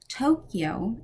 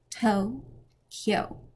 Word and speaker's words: Tokyo: Tokyo in Japanese only has 2 syllables, to-kyo, not Tokyo. Think, yo dude, and then add a K in front.